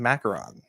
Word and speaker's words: macaron: branch into that French market uh with our pronunciation of macaron.